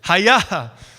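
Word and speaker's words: היה: the Hebrew word hi-yaa so you say hey yeah that's how you say it hai-yah which is which is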